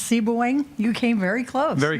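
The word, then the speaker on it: Sebewaing: tell me how to pronounce it correctly it's pronounced C booing you came very close very close okay very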